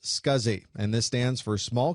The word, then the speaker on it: SCSI: able to use it the abbreviation SCSI is pronounced scuzzy and this stands for